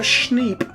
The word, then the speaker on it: schneep: This is a snap keep, or also known in the professional world as a schneep. That is spelled schneep, S-S-H-N-E-E-P, and best pronounced like some kind of wounded animal.